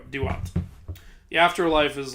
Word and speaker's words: Duat: thing to the underworld it's spelled d-u-a-t so there you go do what the afterlife is like